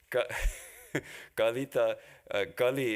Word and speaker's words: Kali: So it would be better spelled in English as Kully or something to make sure you pronounce it right. Kali.